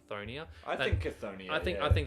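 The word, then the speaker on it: Cthonia: found on a barbarian planet known as it's pronounced seonia but I I reckon it's konia think I think I think that sounds better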